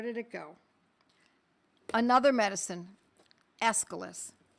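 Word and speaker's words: Aesculus: Escalas. It's spelled A E S C U L U S. Escilis.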